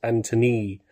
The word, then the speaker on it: Antonee: I actually think his his real name's much cooler um is spelled with an extra e on the end uh his name's Anthony and I think that's